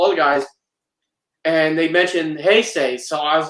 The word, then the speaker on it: Heisei: I used to say, all right, so we know the Heisei films it's Heisei. It wasn't until G-Fest 2013 when I realized I was saying it wrong.